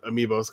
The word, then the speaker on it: amiibo: It's Amiibo. Coming out. Amiibo is pronounced.